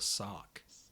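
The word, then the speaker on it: Sawk: We would say sorkc either way. I have to say, but for Americans, it's sork or sark.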